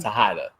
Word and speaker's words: Tejada: You can follow me, Tejada, Tejada. Tejada. Tejada. Yeah. The J is silent. The J is an H. H. In Spanish.